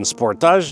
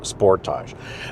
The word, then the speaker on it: Sportage: Before we get into it, Kia's English pronunciation of this vehicle's name is Sportage. Americans love calling it Sportage. We're going with Sportage. It's the same car.